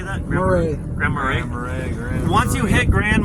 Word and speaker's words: Grand Marais: Grand Marais.